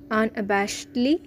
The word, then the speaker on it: unabashedly: আছে এটি একটি অ্যাডভার্ব হিসেবে কাজ করছে শব্দটির উচ্চারণ আনবাসলি এবং spelling U এন এ বি এস এইচ ই ডি এল ওয়াই আনবাসেডলি অতি কষ্টে চলা অথবা অতি কষ্টে অতিক্রম করাকে